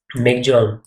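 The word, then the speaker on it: Michaung: And Durgavati MP, cyclone मिगजोंग और मेकहुआंग named by Myanmar in दी बे of Bengal. Bay of Bengal में आया था, नाम किसने रखा? म्यांमार ने। Pronunciation is मिगजोंग।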